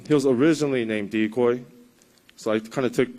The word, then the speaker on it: Decoy: So his name is Dekoping. That's a Japanese name, and I figured it'll be hard for American people to pronounce it. So he has an American name, and it's Decoy. So yeah, you could call him Decoy or Dekoping.